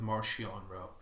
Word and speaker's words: Marchion Ro: At least Mark Wolf pronounces it Marchion Row.